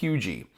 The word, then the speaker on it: Huger: So if you're not familiar with Hugie, it looks like Huger, okay, but it's pronounced Hugie.